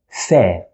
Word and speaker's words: ف: we pronounce it as fair just normal f sound in english fair like in this